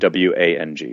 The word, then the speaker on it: Wang: middle initial, R as in Richard, and then WANG. So at Garrett, RWANG. Which we know now is pronounced Wang.